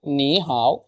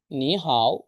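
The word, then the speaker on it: 你好: যে হ্যালো কিভাবে বলতেছে চাইনিজরা হ্যালো চাইনিজ কি নি হাও যখন দুইটা থার্ড টুন থাকে তখন প্রথমটা সেকেন্ড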